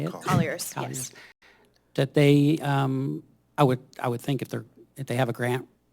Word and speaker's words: Colliers: Colliers, yes.